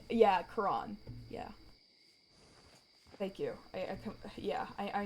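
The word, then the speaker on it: Quran: Um, so yeah, like even so like Karan. Yeah, Kuran.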